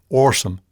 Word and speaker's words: awesome: it now everything is awesome or i should say awesome even spelling it like a new word o-r-s-u-m there's an intonation oddity